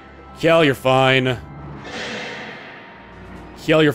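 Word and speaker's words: Kjelle: enemy phase all right Kell you're fine Kell your F wonder how many people initially pronounced her name kajel oh yeah no my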